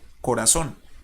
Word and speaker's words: corazón: Pero, ¿dónde lleva el acento? ¿Dónde lleva, digamos, acá la tilde? Corazón. En la O, ¿cierto? Y es la última sílaba.